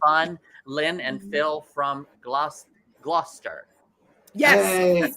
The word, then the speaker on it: Gloucester: Lynn and Phil from Gloucester. Yes. Hey. That's how it's pronounced.